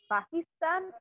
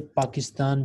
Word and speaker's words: Pakistan: Arabic you can say Pakistan because original pakistanis pronounced the name of their country like PA with P sound so it is up